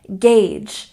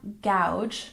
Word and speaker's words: gauge: number eight we have gagee it sounds like Gage not gouge not gge gagee gagee for example example I